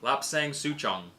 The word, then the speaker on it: Lapsang Souchong: Lapsang Souchong. So good. And I am pronouncing that properly. I've asked many people from the country where it originates if I'm saying it properly.